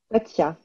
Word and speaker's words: Böttcher: You pronounce it. Böttcher.